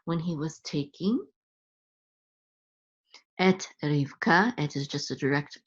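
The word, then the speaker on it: רבקה: So when he was taking, et Rivka, et is just a direct object pointer, and then Rivka is Rebecca. That's how you say it in Hebrew, Rivka.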